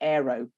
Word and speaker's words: Aero: my phone through so I don't say the name wrong, it's Adobe Aero.